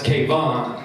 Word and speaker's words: K-von: extra black i go my name's not kevin sir he's like well what is it says kevin angle that's k-von and he's like oh